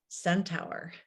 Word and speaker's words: centaur: Hates the word mirror and is in love with a purple centaur. Is that how I pronounce that?